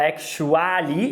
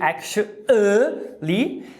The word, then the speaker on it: actually: Na primeira, o schwa está no segundo A da palavra actually. Você não fala actually, e sim actually.